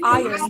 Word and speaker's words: iron: is the other way please remember to say iron to say he'll rhyme with lion advertisers advertise advertisements will